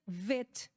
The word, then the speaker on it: Bet: E a segunda é o Bet. O Bet também se pronuncia Vet.